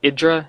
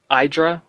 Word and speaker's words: IdrA: um on the pronunciation if you listen to idra in any of his interviews he pronounces it idra not idra so from the man